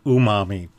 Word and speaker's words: umami: Okay, so technically it's pronounced umami.